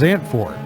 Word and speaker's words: Zandvoort: Pronounced Zandvoort, or if you're from Texas, Zandvoort, is the motorsports racetrack located in the dunes north of Zandvoort, Netherlands, near the North Sea.